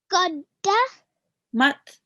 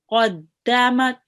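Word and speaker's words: قَدَّمَتْ: And in the next word, we have the qaf joining onto the dal. Okay. And it is pronounced qadda. Qadda. Mat. Mat. Qaddamat.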